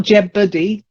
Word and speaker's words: jeopardy: So I'm pretty certain that's how it's pronounced. Then jeopardy. Jeopardy. Not jeopardy.